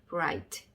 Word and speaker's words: bright: G랑 H가 단어 중간에 나왔을 때는 묵음인 경우가 있다. 그래서 G랑 H 밑에는 아무것도 적어주시면 안 되고, 그 다음에 T 밑에 T자 적어주시면 되겠습니다. 그래서 한번 보시면 조합을 한번 해볼게요. 그래서 이렇게 한번 보시면 이렇게 되겠죠? bright, bright, bright.